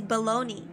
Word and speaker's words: bologna: maida I Googled it apparently it's baloney even though it's pronounced even though there's an a at the end I think you can